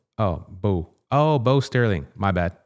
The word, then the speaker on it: Bo: So, um the pronunciation of my name is Bo. Oh, Bo.